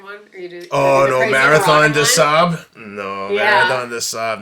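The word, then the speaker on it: Marathon des Sables: the sand and at Marathon theab it's it's spelled d s s a b l s for people listen Marathon theab the French pronunciation but in that race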